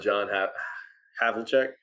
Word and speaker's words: John Havlicek: Number 7, I have a hard time pronouncing the name, but John Havlicek.